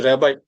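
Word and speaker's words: Rabbi: এটা উচ্চারণটা রাব্বি হবে না। এটা কেউ বলে উচ্চারণ রাব্বি করবেন না। এটা হচ্ছে রেবাই যাজক থাকে না।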